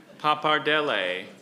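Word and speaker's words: pappardelle: Papardell.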